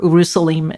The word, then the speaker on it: Urusalim: an earlier name, Rushalimum, or Urusalim is how I think it's usually pronounced.